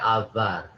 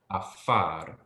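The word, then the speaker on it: עָפָר: Avar, he avar. It's not avar, but afar. Oh, yeah. F sound.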